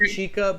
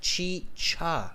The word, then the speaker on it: chicha: my pronunciation on yeah not chica but chi cha okay yeah yeah you